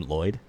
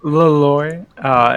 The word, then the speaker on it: Leloy: Is that his name, Lloyd? No, it's Leloy.